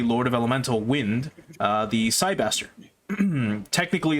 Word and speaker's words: Cybaster: It's the Cyberstar, but it's called, or well, it's pronounced as Cybaster, and they just localized it like that, so that's what we know it as.